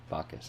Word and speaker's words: Bacchus: Bacchus, okay.